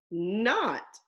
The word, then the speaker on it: knot: sign ah not not be careful this word is a homophone it sounds like the word not in OT they sound the same but they are spelled differently and they mean something